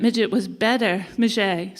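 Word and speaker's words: Midgette: Warhol's claim that Maget, he changed his name. It's spelled midget, but after a period, he prefers to be called Maget. He's actually passed now, but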